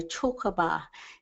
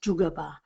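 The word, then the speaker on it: Tjukurpa: And I've put there just the DJ because it's actually, I'll hear people say Chokaba. It's not Chokaba at all, it's Jugaba is how you pronounce it.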